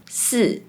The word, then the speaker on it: 是: Let’s see some examples, “是 to be” is pronounced like “是 si4” “知道 to know” becomes “知道 zi dao” “吃 to eat” becomes “吃 ci4” The next one is 3.